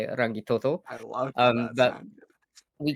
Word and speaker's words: Rangitoto: That's how you say it, Rangitoto.